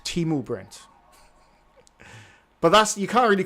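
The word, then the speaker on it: Temu: Timu is pronounced Timu, Brent.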